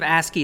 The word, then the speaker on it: ASCII: dot text is a so ASCII yeah it's pronounced ask you don't another one of those eightieth messages blah blah blah it's just basic basic text so you can think of ASCII is basic ASCII text so it's a text